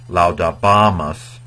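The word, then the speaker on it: laudabamus: So this is laudabamas, because that A is long.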